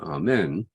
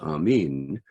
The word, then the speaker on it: Amen: uh judeo-christian tradition is are men um its original pronunciation is Amin that's how it's written in the New Testament in Greek with the long eater